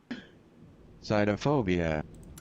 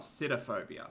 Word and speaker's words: sitophobia: Cytophobia. Oh, cytophobia, not sitophobia. Not like sit and spinophobia.